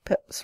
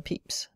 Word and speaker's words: Pepys: that the spellings of Pepys and Pepys were intended to represent the sound peps rather than peeps.